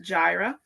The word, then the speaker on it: Jireh: My husband Emanuel Jarvis and so we started Gyra Family Farm is pronounced Gyra.